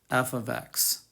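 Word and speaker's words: f(x): operates on x and we pronounce it we pronounce it f of x um so all right this is just matt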